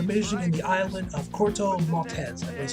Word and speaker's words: Corto Maltese: care of a mission in the island of Corto Maltese.